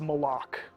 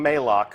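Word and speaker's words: Malok: Uh, and that is Maloc. Malo, right? Official pronunciation confirmed. So, if you hear anybody saying Moko, send them right here to the archive of this stream. Our design leaders told us it's Mala.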